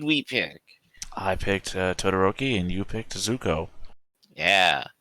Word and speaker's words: Todoroki: here it's zuko and i'll i'll say it correctly the first time todoroki there we go okay it's been a